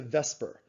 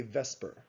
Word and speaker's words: VSEPR: most of the time we shorten it to vesper now if you look at the word vesper